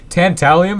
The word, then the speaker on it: tantalum: amazing it just works it's making tent tallium or tantalum as you can see tantalium is the proper way to say it obviously that's also the British way to say it we're calling it tantalum here uh well I've been calling it that the whole episode just because it's intentionally